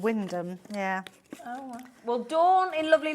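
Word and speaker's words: Wymondham: near a place called um well it's called Windham but it's pronounced well it's spelled y mondum yeah but it's actually called Windham yeah well Dawn in lovely Lincolnshire you just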